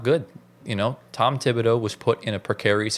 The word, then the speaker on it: Thibodeau: I mean, look, Tom Tom Tibido, I don't even know how you say his name. Is it Tibido? It's Tibido. Yeah, Tibido. So, Tom Tibido, he has